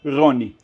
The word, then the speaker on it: Rony: nome curiosamente em hebraico em português é Ron mas em hebraico também é a pronúncia seria Rony Ron como Ron então